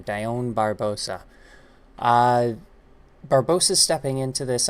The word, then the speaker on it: Dione: Miranda Maverick taking on Dione Barbosa. Maybe it's Diane. Dione. No, I pronounced it right the first time. Dione Barbosa.